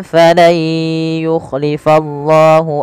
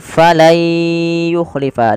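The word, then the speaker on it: فلن يخلف: Maka cara membacanya bukan lagi falan yukhlifallah, tapi menjadi falai yukhlifa. Diganti suara nunnya menjadi suara ya.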